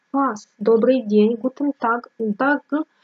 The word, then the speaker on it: Tag: Tag произносится как к. Так.